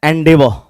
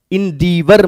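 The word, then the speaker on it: endeavour: next word आपका है एंडेवर ई एन डी ई ए व ओ यू आर इंवर मत पढ़िए एनवर आर साइलेंट होता है एंडेवर ऐसे पढ़ना है आपको अब इस वर्ड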